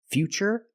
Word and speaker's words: future: That's right, it's ch, because we see T-U-R-E, we pronounce the T as ch. And we see T-U-R-I in futuristic. Again, the T is pronounced with the ch sound.